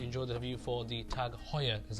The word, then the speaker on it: Tag Heuer: So if you guys have enjoyed this review, hopefully you guys are also going to enjoy the review for the Tag Heuer, is how it's pronounced, but we'll just call it a Tag.